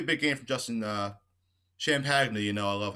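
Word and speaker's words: Champagnie: also pronounce that um it's actually champany correct champagne i think it's champagne i don't know i don't really know i don't even know i said champagne he gave he gave us a lecture on it i kind of forgot about it i think the correct way is sham penny i don't want anybody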